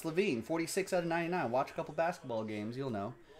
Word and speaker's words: LaVine: Zach Lanvin, maybe? Zach Lavin? No, it's LaVine.